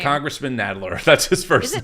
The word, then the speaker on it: Nadler: Because I mispronounced it every time. Nadler. Nadler.